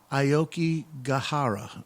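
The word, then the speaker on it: Aokigahara: the cusp of wanting to end everything it's pronounced ioki gahara okay thank you CeCe so um but it's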